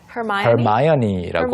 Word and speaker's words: Hermione: 먼저 되어서 헤르미온느라고 됐지만 사실은 Hermione라고. Hermione, yeah. But it could be like Hermione. 네, 맞아요. There could be someone with the name Hermione spelled just like Hermione.